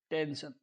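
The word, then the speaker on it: tension: किया है श से next T ई एन एस आई ओ एन टेंशन एस के बाद में आई ओ एन आया है तो उसका उच्चारण श से करेंगे लेकिन मैं आपको एक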